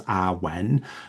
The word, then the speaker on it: awen: and the meaning of awen consisting of two syllables awen essentially translates it poorly